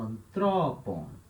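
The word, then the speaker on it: ἀνθρώπων: Então, na hora de falar, eu falo antrópon. Então, o acento, né, ele anda uma sílaba para frente.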